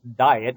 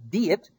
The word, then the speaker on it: Diet: diet of worms well not really it's not pronounced diet it's D it and D it is a meeting a parliament